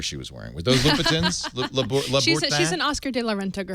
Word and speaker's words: Louboutin: La Bouton. La Bouton. La Bouton. Let's do the internet pronounce guide. Louboutin.